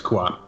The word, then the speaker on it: Kuat: Kuwait, you said? Kuwait? Kuat. Kuwait. I know that I place. thought it was Khan. I mispronounced it earlier. It's Kuat.